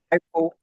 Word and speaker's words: OPAL: and creator of the Oh gosh, can you pronounce that for me? Opal. Opal.